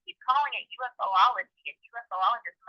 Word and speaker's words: ufologist: UFOologist. I was trying to originally kind of blend the letters together and sound them out, but UFO makes more sense.